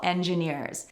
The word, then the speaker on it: engineer: chemical engineers or mechanical engineers Engineer the stress is on the last syllable here, which is rare